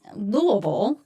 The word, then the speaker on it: Louisville: It is called the Judgmental Podcast with attorney Christine Miller and attorney Hugh Burrow from Louisville or I should Louisville is the proper way to pronounce it.